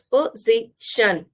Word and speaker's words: position: In this, there are three syllables, position, and in the C part is stressed.